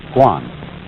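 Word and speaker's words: 觀: And the whole character is pronounced guan.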